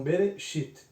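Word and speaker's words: בְּרֵאשִׁית: Então B, Re. Nós temos aqui, né, no finalzinho mais uma parte desta palavra que é Shit. Então Bereshit. Né? Então Bereshit.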